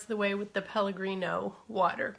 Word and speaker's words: Pellegrino: And then fill that the rest of the way with the Pellegrino water. Peregrino, I always say it wrong. Pellegrino, is it with an L?